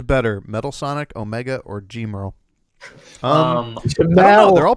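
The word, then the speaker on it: Gemerl: I use Gmarl because it's not Jamel, because it has an R.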